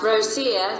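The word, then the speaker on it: Ρωσία: Rho omega sigma sigma iota alpha Russia, spelled Rho omega sigma iota alpha, Rosia, pronounced Rosia.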